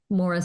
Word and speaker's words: Moira: so YouTube and then Mora look up Mora and it's not pronounced like it's spelled I know so for